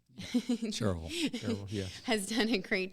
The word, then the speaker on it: Cherryville: Cherryville, yeah.